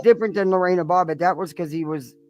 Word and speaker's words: Lorena Bobbitt: Oh, Lorena Bobbitt.